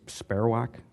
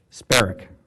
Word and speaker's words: Sparrock: And then down, and I always mispronounce the name, I believe it's Sparrowack? Sparrock. I always pronounce it wrong.